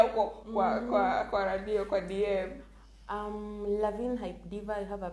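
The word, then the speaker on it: Lavigne: The G is silent. Oh, Lavine.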